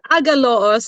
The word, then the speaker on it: Agaloos: Agaloos is how I'd say it, but then I forgive Agaloos.